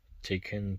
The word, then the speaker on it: Taycan: And instead of the police car Porsche, we have this blue Taycan Turbo S. That's how you pronounce it.